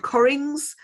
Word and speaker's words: Cockerings: His name's Stephen Colgan, and he's just written a hugely funny book called Corrings, spelt Cockerings, but it's pronounced Corrings, and that's a whole other story, available from all good bookshops.